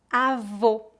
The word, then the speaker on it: avô: Pronúncia fechada. Avô, avô.